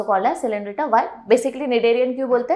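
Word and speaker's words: Cnidaria: Next आ जाता है second phylum called as निडेरियन। ठीक है भाई, सी वापस साइलेंट है, याद रखना ना, ये निडेरियन वगैरह मत बोलते बैठना। तो निडेरिया, दैट इज निडेरियंस भी बोल सकते हैं, and they are also called as सिलेंड्रिटा।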